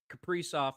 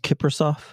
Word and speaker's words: Kaprizov: Kaprizov gets one in the first. Yeah. Yeah, 1-0 Nice. Wild over the Knights. Isn't it pronounced Kiprasov?